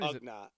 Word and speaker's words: Ugnaught: Ugnaught.